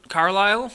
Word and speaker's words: Carlisle: are those car yeah Carl Carlisle I think is how you pronounce them and I know those